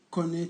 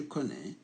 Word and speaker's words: connais: verbe connaître je connais tout ici à une everything donc je connais aïe no ne prononcez pas le cas il est là on est le prononce pas ça donne à une